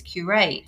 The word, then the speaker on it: Qureight: said let's talk about queue right first of all and you're like no no that's not how you say it's curate so first of all